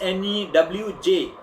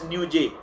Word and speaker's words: Newj: It is N-E-W-J, Newj. You often pronounce it as Newj, but it is Newj. Newj, the way we talk in say UP or Bihar, we refer to news as Newj.